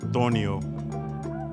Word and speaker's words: torneo: tournament how do you say tournament in spanish tornio so it's it's pronounced torneo that's right how do you